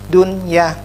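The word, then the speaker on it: دنيا: Contohnya dunya, nun mati, ke dunya, nun mati ketemu dengan ya, tidak bacanya dunya, karena ini satu kata jadinya jelas dunya, ya.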